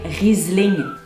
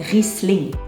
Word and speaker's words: Riesling: Que j'en voyais un dire Riesling. Je vous confirme qu'il n'y a pas de Z dans ce mot, on le prononce donc Riesling.